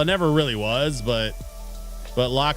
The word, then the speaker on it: LOQ: Well, it never really was, but Lock series is more of like a budget gamer line. LOQ is how it's spelled.